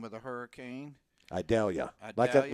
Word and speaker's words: Idalia: I can't pronounce the name of the hurricane. Idalia. Idalia? Like an onion. Vidalia? Idalia.